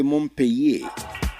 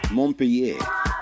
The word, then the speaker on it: Montpellier: The proper pronunciation is actually Montpellier. You know, the double L is pronounced like you're pronouncing Y sound. Montpellier.